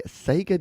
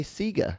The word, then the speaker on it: Sega: not the genesis but we say sega not sega despite the fact that it is sega and that's the actual japanese pronunciation but we're a bit